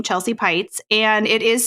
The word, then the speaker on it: Peitz: everywhere under my first and last name Chelsea pytes and it is spelled kind of odd because most people think